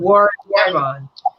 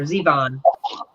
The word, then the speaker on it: Zevon: to the song Werewolf of London by Warren Zevon. Or Zevon. So that's kind of cool. Zevon.